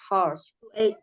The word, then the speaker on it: hours: Work in additional to your set hours. Work in addition, bukan additional. Oh ya, work in addition to your set hours. Hours. Jadi hanya nggak dibaca.